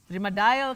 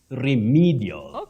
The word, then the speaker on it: remedial: remedial classes remedial classes remodal classes is now what you commonly hear locally is remedial medal no that e takes the long high front sound e REM remedial not remedial not remedial